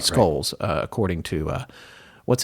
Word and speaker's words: Scholes: it's s-c-h-o-l-e-s and yes i looked up how to say her name it does it looks like shoals right skulls uh according to uh